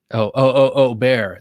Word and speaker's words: Bexar: At Knife Point says, Bob, the Bexar is pronounced Bear X. Bear. The X is silent.